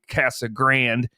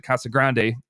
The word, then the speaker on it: Casa Grande: right there out in casa grande this is the way they want me to pronounce it casagran uh i i pronounce it casa grande and uh the reason